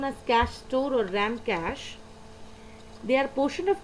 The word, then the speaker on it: cache: Cache memory, which is pronounced as cache, as you can hear, a special high-speed storage mechanism.